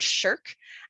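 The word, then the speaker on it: SSHRC: and humanities research council you'll hear the word shirk and it's s h r c my mom i want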